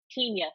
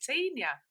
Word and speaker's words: Tenya: Well, I created created a new Tina. It's okay. Don't worry. I'm Tina. I SEE. I GOT YOUR NAME WRONG. I'm so sorry. Tenia.